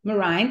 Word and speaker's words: Merijn: name a lot of people just we can't pronounce it so welcome to Marine did I say that right yeah that's correct